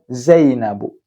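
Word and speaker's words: زينبُ: Kemudian zainabu. Zainabu enggak pakai tanwin ya.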